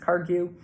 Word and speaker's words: Kagyu: But 17th Karmapa is the head of the Kagyu school, sometimes pronounced Kargyu. Like many things, letters come in and out. They don't mean anything. Kargyu is the same as Kagyu.